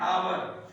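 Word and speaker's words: hour: तो एन आवर ये क्या है? इसमें ये जो य है ये साइलेंट होता है। तो हमारी ये उच्चारण कहां से शुरू हुआ है? ओ से।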